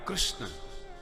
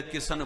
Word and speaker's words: कृष्ण: भी बोल सकता है कृष्ण बोलने में जीव चक्कर खाए जाती है बहुत से लोग तो शुद्ध बोले ही नहीं पाते कृष्ण की जगह किशन बोलते हैं किशन उच्चारण बड़ा विचित्र राजस्थान में जहां